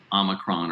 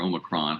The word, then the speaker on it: omicron: julie one outcome of omicron or omicron however you want to pronounce it has been an increase